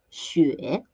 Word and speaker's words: 雪: 请跟我读雪雪 It's the third tone, so we do a down dip and up.